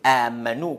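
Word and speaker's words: آمنوا: Cela veut dire Amanu comme ça, on écrit, mais la prononciation, c'est comme ça même. Amanu, Amanu. Mais ici, on ne peut pas prolonger beaucoup, un peu.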